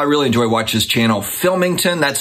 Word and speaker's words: Philmington: I really enjoy watching this channel, Philmington. That's spelled Phil, P-H-I-L, Mington, Phil Mington.